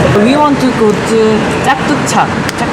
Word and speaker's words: Chatuchak: The pronunciation is ... Chatuchak Chatuchak Erai ~ Ah ~ I want to see it soon!